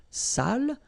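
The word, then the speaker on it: sale: So if you don't put the accent, it means dirty and then you pronounce it sal. But in that case here, okay, you put the accent and it's quite important because in that case it means salted. Okay. Sali. Okay.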